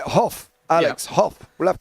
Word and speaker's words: Hoff: And also, I will quickly shout out Rachel Hoff, just a point on the name pronunciation, because I did grab it during the warm-up. It's Hoff.